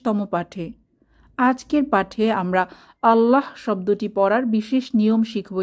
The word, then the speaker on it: আল্লাহ: হরফটি একটি পাতলা হরফ তবে আল্লাহ শব্দটির ক্ষেত্রে লামের উচ্চারণ কিছুটা ব্যতিক্রম আল্লাহ শব্দের লামকে কখনো মোটা করে পড়তে হয় কখনো পাতলা করে পড়তে